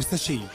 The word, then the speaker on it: sachet: الكلمة دي اتنطقت بالشكل ده لأن الكلمة دي أصلها فرنساوي زي شالي شالي، بالي بالي، بوكي بوكي، وزيها كلمات تانية كتير.